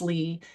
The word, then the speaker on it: Leah: Most people call me Lee, although it looks like it's spelled likely, I pronounced Lee.